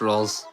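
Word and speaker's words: Rouxls: It's pronounced rolls.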